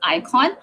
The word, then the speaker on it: Eikon: Our flagship product is Icon. That's EIKON. That's pronounced as Icon.